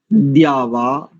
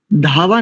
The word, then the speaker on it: द्यावा: देखिए, शन्नो द्यावा, धावा नहीं करेंगे। जैसे एक शब्द होता है विद्या, तो विद्या में जैसे द और या मिलकर के दिया बनता है, तो यहां पर भी द्यावा।